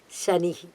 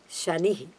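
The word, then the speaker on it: शनिः: So please do not use any other Sha there. It is a Shiva Sha, Shanihi. Both are short letters.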